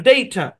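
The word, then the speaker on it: data: ওইটা আরেকবার দেই তো ডেইটা এই শব্দের মধ্যে দুইটা সিলেবল আছে এখানে এ বরাবর ভাগ হবে এখানে একটা সিলেবল এখানে একটা সিলেবল এই শব্দের মধ্যে এই বরাবর চাপ পড়ে ডেই ডেই এখানে চাপ পড়ে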